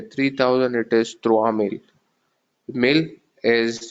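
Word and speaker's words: mille: Mil is, you don't pronounce the extra E here, the last alphabet.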